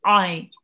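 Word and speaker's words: عين: How would you pronounce this letter? From the middle of the throat. From the middle of the throat, exactly. Ein.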